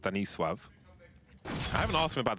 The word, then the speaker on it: Stanisław: Stanislaw is 9-0 at present. 9-0 in 5 rounds. Not bad for an in-game leader. Stanislaw in Polish is pronounced Stanisław.